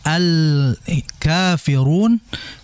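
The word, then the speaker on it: الكافرون: berikutnya alfirun Al Al di situ kan lamnya jelas ya maka engar alqamariyah karena memang al-nya jelas ya dibacanya Adapun asyamsiyah lamnya tidak terbaca melainkan langsung dimasukkan ke huruf berikutnya makanya asyamsiyah alnya tidak dibaca melainkan langsung ke syin Adapun alqamariyah al-nya tetap dibaca maka Al Kafirun Al di situ adalah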